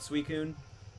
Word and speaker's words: Suicune: I believe from watching the movies and stuff though. They definitely call it Suicun.